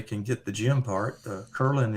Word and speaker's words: Kerlin: get the gym part kurlin is like Merlin but with a K wonderful at Jim klin